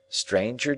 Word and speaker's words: stranger: Stranger does not rhyme with anger, neither does devour with clangor.